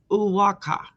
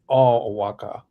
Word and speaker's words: Oaxaca: And evidently, Mel, you say that like this. Oaxaca. Oaxaca.